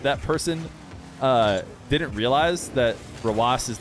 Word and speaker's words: Rawas: They were like, I like how everybody in in the Twitch chat was calling him Roass. Roass. And what I'm not sure is if that person didn't realize that Rawas is like, that's how you spell it, like that's his name.